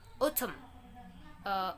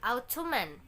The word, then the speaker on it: autumn: and the fit is some letters may in a world may not be pronounced at all for the example autumn autumn not ottoman but bottom autumn second is not not